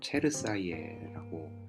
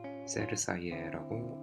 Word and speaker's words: Cersaie: 가져보도록 하겠습니다 자 우선 체르사이에라고 읽게 되고 셀 사이에라고 뭐 영어권에선 발음하기도 하는데 매년 9월 마지막 주